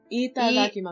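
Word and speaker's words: いただきます: First of all, the vowels are pronounced a lot like in Spanish. That they're, you're, I think you're, you know how in English there's long and short vowel sounds? Yeah. You're using the wrong kind.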